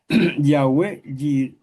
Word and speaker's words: Yahwé: Las dos maneras es correcto porque la letra W en español se puede pronunciar de las dos maneras, como u o como v o U. Yahwé Jiré o Yahwé y Jiré.